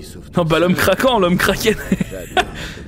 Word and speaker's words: Kraken: Non, bah l'homme craquant, l'homme Kraken. Ça se prononce Kroken.